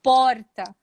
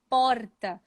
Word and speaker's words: porta: E aqui na capital, a gente tem a pronúncia do R mais parecida um pouquinho com os gaúchos por causa dos italianos. Então, eu falo porta, porta. Vocês veem que dá um grrr, porta.